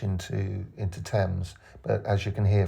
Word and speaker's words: Thames: the H into into temps but as you can hear from my voice we don't pronounce the h so it's it shouldn't